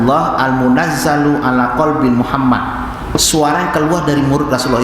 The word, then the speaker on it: Muhammad: tidak berotak mana masalah contohnya Bersama saya Muhammad orang Jawa itu bacanya tidak Muhammad Orang Afrika lagi bacanya magma Dut orang Rusia Mohammad sama dengan Jawa itu Rusia orang Turki medali mehmed Muhammad ya baca Mehmet kalau kita akan Memet juga Hai Kalau Sunda Mamat tapi Maksudnya Nabi Muhammad